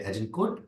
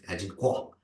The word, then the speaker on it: Agincourt: It is of course battle of, as Americans say, Agincourt, and as in the Europe this Agincourt.